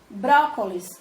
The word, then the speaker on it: brócolis: Brócolis tem 3 sílabas. Brócolis. E a sílaba tônica é bró, porque tem acento.